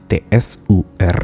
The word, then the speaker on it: tsur: Atau di dalam bahasa Ibrani digunakan kata tsur, T-S-U-R dibacanya tsur, yang sama artinya dengan Petra.